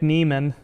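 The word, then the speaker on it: Niemann: First off, Nick Neman. Neman, thank you to Hall of Fame tight end Antonio Gates for that pronunciation because I went back and watched him getting drafted in 2021.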